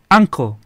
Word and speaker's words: uncle: Vamos a hablar con tío, diríamos uncle, una A chiquitita.